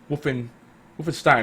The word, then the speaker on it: Wolfenstein: Wolfenstein, right? Yeah, Wolfenstein. That's the proper way to say it.